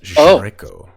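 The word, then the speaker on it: Sreyko: It's actually spelled S-R-E-Y-K-O. Pronounced Draco.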